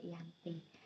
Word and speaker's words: Giyanti: Dalam pelafalan Belanda, ia disebut sebagai Ianti, dan secara tertulis ia sebagai Giyanti.